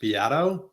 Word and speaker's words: Beato: our pre-con conversation that my last name is pronounced Bato oh just for the